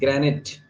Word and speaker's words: granite: of the word so the pronunciation of this word is granite it's not Granite it's Gran it right Gran it so the answer will